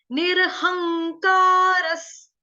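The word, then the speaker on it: निरहंकारः: स आपका हलंत आएगा, आधा स, जो विसर्ग है उसका उच्चारण हलंत स से कर रहे हैं, क्यों, क्योंकि आगे जो शब्द शुरू हो रहा है वो हो रहा है स से स्टार्ट, तो स से शुरू होने की वजह से ये विसर्ग का उच्चारण जो है स होगा, ठीक है।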